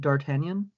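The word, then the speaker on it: D'Artagnan: I like to pronounce it Dartanian. Uh that's my first name. That said, there's punctuation, a silent G. it's French in the first place.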